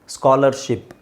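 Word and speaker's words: scholarship: ship ಸ್ಕಾಲರ್ ಸ್ಕಾಲರ್ ship S ಸಿ ಎಚ್ ಇದೆ ಅಲ್ಲಿ ಅಲ್ಲಿ ನಾವು ಉಚ್ಚಾರಣೆ ಮಾಡೋದು ಏನು ಎರಡೇ ಸೌಂಡು ಸ ಮತ್ತೆ ಕ ಸೋ ಸಿ ಎಚ್ ಅನ್ನ ನಾವು ಕ ಅಂತ ಯೂಸ್ ಮಾಡ್ತೀವಿ ಎಸ್ ಅನ್ನ ಹಾಗೆ ಹೇಳ್ತಿವಿ ಸ್ಕ ಸ್ಕಾಲರ್ ಸ್ಕಾಲರ್ ಸ್ಕಾಲರ್ ಶಿಪ್ ಇಲ್ಲಿ ಶಿಪ್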